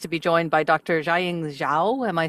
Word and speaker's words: Jiaying Zhao: Xiing Xiao.